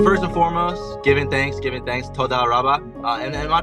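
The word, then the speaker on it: תודה רבה: Todah rabbah. Yeah, we there's a little bit of emphasis, like it's todah rabbah. So the emphasis on the back side of it.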